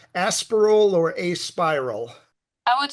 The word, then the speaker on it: Aspiral: Is it pronounced Aspiral or Aspiral?